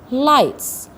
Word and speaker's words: lights: Now in this lesson we have some words that have some silent letters like lights. Here the GH is silent.